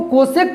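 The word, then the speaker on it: cosec: लेकिन इसको कोसेक पढ़ा जाता है, इसको भी कोसेक ही पढ़ा जाएगा, इसका प्रोनाउंसिएशन में कोई चेंजिंग नहीं होगा।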